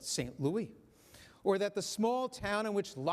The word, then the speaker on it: St. Louis: Recall that it is not, as we say, St. Louis, but St. Louis, or that the small